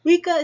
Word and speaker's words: Weka: bird with an inquisitive nature the name is pronounced like this and the word sounds like this wika is an open source software issued under the